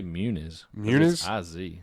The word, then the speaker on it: Muniz: do you say it i say munis it's not ozi muno munos would be ozy so munis munis plus